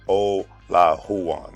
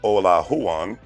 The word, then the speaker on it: Olajuwon: former houston rockets back uh basketball player hakeem o la huwan i want to make sure i pronounce his name correctly according to the article that i read today mr ola huan spent nearly all of his 18-year career in